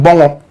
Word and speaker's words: Bongo: Manasseh Awoni Azure comes all the way from Bongo, correct pronunciation, Bongo.